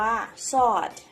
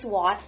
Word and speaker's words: sword: Red ปาก ไผ่ ธรรมชาติ ที่ เขียว ล้อม รอบ ไป หมด เลย ชู Sword ดาบ ครั้ง นี้ อ่าน ว่า ซอส ไม่ ใช่ swot นะ คะ อ่ะ the three Force